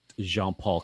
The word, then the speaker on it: Jean-Paul: It's at Jean-Paul Comedy on Instagram, or Jean Paul if you want to pronounce it properly.